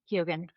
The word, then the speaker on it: Keoghan: Is it pronounced Barry Keoghan? Yeah, he was just phenomenal. Barry Keoghan.